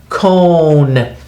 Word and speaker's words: cone: this con into a cone because the silent e is so strong it makes the o say its name instead of uh I